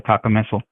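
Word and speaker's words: cacomistle: to look up the Taka missile. Mhm. Uh, it is spelled C A C O M I S T L E like mistletoe with kaka in front of it.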